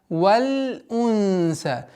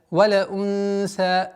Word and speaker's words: وَالْأُنْثَى: валь унса. При ускорении, резком ускорении получается валя. Валя унса, валя, что является распространенной ошибкой. Избегайте этого.